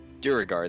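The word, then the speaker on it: Duergar: From the from the goblins and I forgot their name because I can't pronounce it apparently. Duragar? Duragar, there we go.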